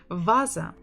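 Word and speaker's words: ваза: for you in Russia Vasa Vasa Vasa Vasa stress on the first syllable Vasa toeta Diego the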